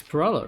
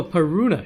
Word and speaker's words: Paruna: Did I mispronounce the name? It's Parala, right? You said she was Peruna or something? Oh, Paruna, shit.